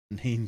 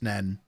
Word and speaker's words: Nene: A word that is spelled N-E-N-E. Is that pronounced Neen or Nen? I'd be more likely to give you Nene rather than Nen. At least then you're acknowledging that final letter.